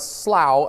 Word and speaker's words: Slough: You might notice that Slough up here, or Slough or Slough, or however you want to pronounce it, I'm never sure. It's Slough, I know.